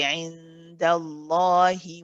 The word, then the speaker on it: عند الله: this whole ayah together, when you read it in continuation, when you carry on to the next word, then you pronounce this kasra and say indallahi wa innama.